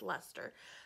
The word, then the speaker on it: Leicester: like castor but and I was informed it's pronounced Lester so some British sheep